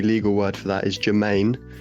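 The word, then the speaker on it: germane: Uh or the fancy legal word for that is Germaine, not like it's pronounced pronounced like Jermaine genus or Jermaine Defoe.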